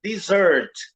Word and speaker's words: dessert: E a sílaba tônica é a segunda, é dessert.